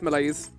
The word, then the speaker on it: malaise: Rhymes with mayonnaise. Malaise? Oh yeah, it's malaise.